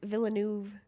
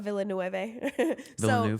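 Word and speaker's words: Villeneuve: don't hate me I just looked up the pronunciation of the name and it's villain not vill V for what the director I'm sorry you guys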